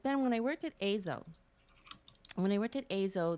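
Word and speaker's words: Eizo: i started azo e-i-z-o have to say it because it's spelled it's a japanese name it's uh um but before i started azo i was actually doing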